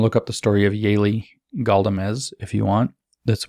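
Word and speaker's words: Yaeli: happens you can look up the story of yaylee goldemes if you want that's one example i bring up a lot it's a tragic story immigrant mother comes up from her from peru her daughter yaylee has y-a-e-l-i if you want to look her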